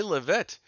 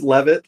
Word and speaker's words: Leavitt: say your name right yeah it's a it's levit um sometimes people call me L it which is just fine but the the way it's pronounced here in in kind of the uh the desert Southwest where it is popular is levit well thank you Troy